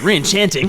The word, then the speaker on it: Re-Enchanting: And with Re-Enchanting, I guess I said enchanting like an Englishman, but yeah, Re-Enchanting, it's dance, rhymes with romance.